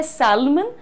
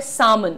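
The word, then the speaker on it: salmon: Next एक मछली होती है, लोग खाते हैं अपेरेंटली, मुझे ज्यादा इसके बारे में पता नहीं है, लिखा जाता है सैल्मन लेकिन होता है सामन। The pronunciation is सामन everyone, this is written very clearly.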